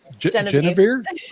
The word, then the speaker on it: Genevieve: Genevieve.